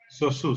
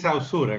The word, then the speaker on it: Saussure: Saussure se pronuncia. Saussure. Tú puedes decir Saussure, como se escribe, no hay problema de eso.